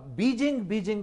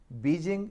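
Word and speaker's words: Beijing: और एक और मेरे ज़हन में, अब बीजिंग कहते हैं लोग। बीजिंग मिसप्रोनाउंसिएशन है, बेजिंग है, बेजिंग।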